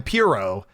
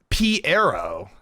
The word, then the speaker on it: Piero: We've been calling him Pyro, but it's actually Piero, as in, I don't know.